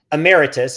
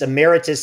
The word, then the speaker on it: emeritus: Let me just mention, because the way you pronounce that, it doesn't even exist in the USA language, in the English language. So emeritus, so he's emeritus.